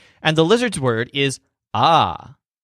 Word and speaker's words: ha: And the lizard's word is ah, spelled H-A. Remember that the H's are silent here.